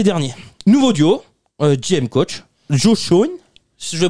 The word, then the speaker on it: Joe Schoen: Joe Schoen. Si je le prononce bien.